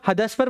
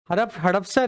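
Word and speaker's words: हडपसर: हदसपर मंडी है क्या, हाँ हड़पसर नहीं, इसमें तो HADASPAR आ रहा है, हदसपर करेक्ट प्रोनाउंस कर रहे हैं, हड़पसर है। Please check it ऑन the Google, it's हड़पसर और हदसपर। HADAP है या HADAS है, गूगल पे एक बार चेक करिए। हड़पसर, HADAPSAR, मतलब किताब गलत हो गई, मेल लिखना पड़ेगा आज।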